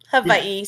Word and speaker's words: Hawaii: how you say it Havi so you pronounced the W like a V Havi okay Judy's in Hawaii and she's been the